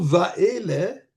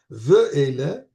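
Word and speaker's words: ואלה: Le mot Va'ele, qui s'écrit Ve'ele, je devrais dire pas Va'ele, je m'excuse, Ve'ele, Vav, aidez-moi à compter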